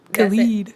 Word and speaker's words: Khalid: Khalid. Khalid, sorry. Another by one. Khalid, called Not that one. Not that one. Different. Yeah. That's DJ Khaled. Oh. Khaled, and It's then very this different. is Khalid.